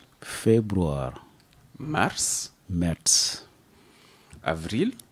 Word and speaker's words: März: Voilà, März. Mais qui se prononce comme un T et un C.